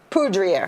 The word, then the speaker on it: Poudrier: Poudrier.